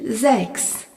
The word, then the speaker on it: sechs: Le nombre 6 se dit sechs, S-E-C-H-S. Remarquons que le S en début de mot est suivi d'une voyelle se prononce Z.